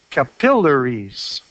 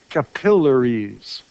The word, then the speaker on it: capillaries: So the stress goes on the syllable just before the double consonant. So capillaries, right? Capillaries.